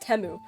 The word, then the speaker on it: Temu: on teu y that teu commercial I know pronounced temu but it's stuck in my head all the